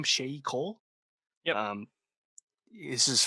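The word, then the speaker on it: Sheyi Cole: Shay Cole.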